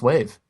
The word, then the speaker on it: WAV: know it's strange because some acronyms you actually pronounce but others you don't for example take avi you don't pronounce it av but wav a wave file you pronounce wave that's actually very true